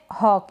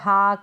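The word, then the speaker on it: hawk: flown दोष यह है हॉक इसको हॉक या हक ऐसे नहीं पढ़ेंगे इसको पढ़ेंगे हॉक यानी कि बाज ये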